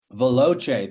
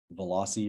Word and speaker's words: Veloce: Mark let's read this veloce thank you for helping me pronounce that I think I said like velocity or something veloce cpq is the